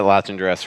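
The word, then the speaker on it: Latendresse: Can't wait to listen back to hear your pronunciations. How close did I come? Uh, you did not get latch and dress right.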